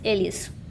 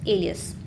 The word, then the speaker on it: alias: The stress is on the first letter A, so this word is pronounced as alias.